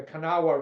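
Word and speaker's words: Kanawha: they call the Cana ring ring that's a canaa river which is pronounced Cana they dominated West Virginia politics for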